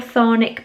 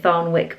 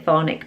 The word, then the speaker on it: Thornwick: over there it's called chthonic Bay I was calling it thorne wick bakes that's how it's spelled I think the W is silent because everyone else was calling chthonic Bay um so yeah